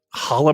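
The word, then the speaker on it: challah: i want like uh how do you pronounce it the chihala bread holla bread i love it right food of my people david yes that is correct uh yes i'm looking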